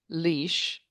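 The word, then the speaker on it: Laois: get Galway, we get Leash, that's pronounced leash, you know, L A O S. I you and I would not pronounce it leash, but that's what it is.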